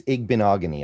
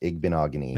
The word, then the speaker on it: Igbinoghene: Yeah, it's Igbinoghene. I always just remember it rhymes with mahogany and then it kind of just flows. Igbinoghene.